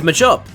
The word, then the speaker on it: Machop: It is mop cuz meant to be a combination of macho and chop.